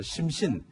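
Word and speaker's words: 心神: 지금 보이는 저게 이제 X2라고 해서 심신, 한자로는 마음 심자에 귀신 신자에서 심신, 네. 일본 말로는 신신이라고 읽는데 저걸 이제 기술 실전기로 개발했고 스텔스기예요.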